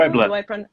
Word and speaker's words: Puebla: Puebla. Yes. Do I pronounce it correctly?